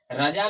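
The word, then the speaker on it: Razza: आप कहीं-कहीं पे देखे होंगे जैसे कि रजा। राजा नहीं रजा का अगर हमको स्पेलिंग करना होगा। रजा यानी कि आर A double Z ए रजा।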